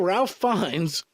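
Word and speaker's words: Ralph Fiennes: feel that Ralph fenes I think I said that right Ralph fines Voldemort it's spelled fenes is it Voldemort yes it's Ralph fines all right let me restate that I feel Ralph fines would make a very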